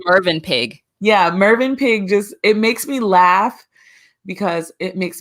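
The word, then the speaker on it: Mövenpick: It's written as Movin Pick, which is like a hotel chain or something. Which it's pronounced Mervin Pig.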